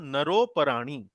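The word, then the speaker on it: नरोऽपराणि: तो ये वास्तव में जब संधि होती है तो ये र के ऊपर ओ की मात्रा लग जाएगी और अ की जगह एक ये अवग्रह आ जाता है। तो नरोपराणी, इस प्रकार से इसको उच्चारण किया जाता है।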